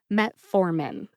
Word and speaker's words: metformin: and you get metformin emphasize the second syllable for metformin metformin let's move on